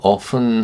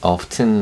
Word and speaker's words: often: Her sisters often, 종종, often은 T 발음을 빼고 often 하기도 하고요. 어떤 사람들은 often 하기도 합니다.